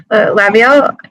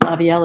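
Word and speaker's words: Lavielle: lined up to hear from are representative Gail laviel and then um following that representative Mitch bolinski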